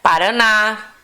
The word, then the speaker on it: Paraná: Então, a gente tem como exemplos aqui Paraná, Urubu, Pajé, Vovô, Jabuti, Guaraná, Guarani, Robô e etc.